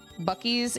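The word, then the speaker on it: Buc-ee's: Bies is great. So, we had to get hoodies. It's B. It's spelled B U C E. Bucky. Bies.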